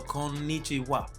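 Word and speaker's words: こんにちは: keep in mind it's with konichiwa you want to make sure you hold the end and konichiwa because there is an in sound and then there's a knee sound so konichiwa another thing you can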